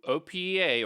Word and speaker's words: OPEA: typing Opa GitHub and so Opa or Opa as they like it to be pronounced is a collection of